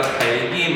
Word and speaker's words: 닭이: 닭이 맛있다가 아니라 달기 맛있다 이래야지.